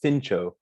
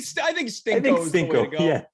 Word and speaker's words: Stinco: Maybe it should be pronounced Stincho. But no, I think Stinko is the way to go. Yeah, Stinko's the way to go.